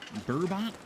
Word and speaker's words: burbot: Is it Bourbet? Burbot. Like it's spelled Burbot, but it's also it could very easily just be bourbon. It is burbot.